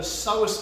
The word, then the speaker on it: Psoas: You might not know this, but there's actually a muscle at the front of the spine called the Psoas muscle. It's spelt P S O A S, okay.